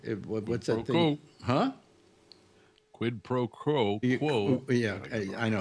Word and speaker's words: quid pro quo: Quid pro quo. Quo. Yeah, I know it's hard to pronounce.